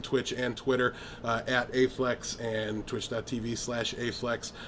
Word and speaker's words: Baephlex: is uh is it bayflex or a flex can you it's uh it's pronounced a flex that b is silence oh okay okay it's silent and invisible if you're